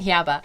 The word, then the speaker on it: Jabba: a droid yeah but I like saying Yabba I like the I like how Diego Luna because he speaks Spanish pronounces Jabba with an H it makes me like